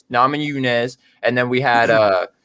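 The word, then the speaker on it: Namajunas: two um we had nominee or how do you say your name nama yunez yeah nam and yunez and then we had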